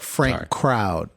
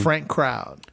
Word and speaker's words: Frank Crowd: Frank Crowd. Frank Crowd. Shout out. That's C R O WD D. Yeah. Like a crowd.